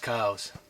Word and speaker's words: Coues: took a really nice kooz deer with my favorite Black Widow Recurve I just don't believe it I can't believe it just happened and that looks like a tremendous Koo deer correctly pronounced cows man what a deer